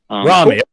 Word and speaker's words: Rami: It's Rami. You're good. Rami. That's how you pronounce it.